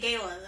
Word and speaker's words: gala: so we have a gala gala Gaya how do you say I say Gala I feel like a lot of people say it Gayla though yes it's it's one